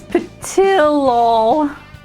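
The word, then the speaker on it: Ptilol: There's an L, it's P-T-I-L-O-L. Which Japanese could have the silent L after the I.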